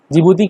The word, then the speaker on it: जिबूती: जिबूती का सही नाम है डिजबूती। ठीक है, तो डी इसमें साइलेंट होता है।